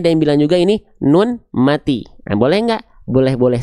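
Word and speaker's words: ن: Bunyi konsonan dari huruf nun apa? Bunyi konsonan dari huruf nun adalah n. Ya, betul enggak? Bunyi konsonan dari huruf nun adalah n. Ya, en ya. Jelas ya? En en. Oke, lanjut.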